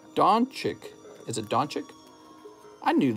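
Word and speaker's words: Dončić: It's pronounced Doncic.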